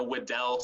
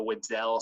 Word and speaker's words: Weddell: So you guys should definitely find a video of a Weddell seal. It's Weddell.